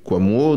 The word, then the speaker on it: Kouamouo: simplicité c'était justement qu'il s'écrit exactement comme il se prononce oui quamo donc la personne qui